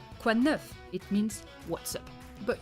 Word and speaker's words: quoi de neuf: Let's say it together. Quoi? Quoi? It's the wa sound. Wa. Quoi de neuf? Neuf. For once, the letter at the end is not silent, so you have to pronounce it.